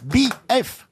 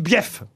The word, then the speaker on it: bief: Peroni le guêpes détend il y a deux syllabes BF ah non on dit bief on dit ce qu'on